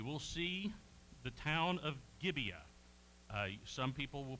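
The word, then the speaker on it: Gibeah: many ites we will see the town of gibea some people will pronounce it gabea but um I the the folks that I I listen to most closely will refer to it as gibia it is a town very close to jabus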